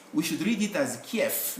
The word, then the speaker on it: Kiev: they have different sound we can write v but we pronounce it as f the capital city of ukraine is written like this we should read it as kef not the kiev the gun which criminals